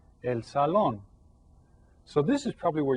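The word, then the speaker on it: salón: Sal and you see this has an accent right there El Sal so you stress that syllable El Salon so this is probably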